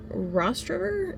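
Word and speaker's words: Rostraver: I'm currently in Rost River is how you pronounce it.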